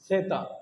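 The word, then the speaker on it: zeta: जेड को हम बोलते हैं सेता, सेता।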